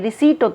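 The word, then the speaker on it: receipt: मुझसे कोई रिटर्न में रिसीप्ट तय रिटर्न में कुछ लेना लिखा हुआ कागज लेना पर्ची लेना रसीद लेना हिंदी वर्ड परसिद्ध वैसे इसको बोलते रसीद इसमें पी साइलेंट होता है उसी बीच उसने मेरी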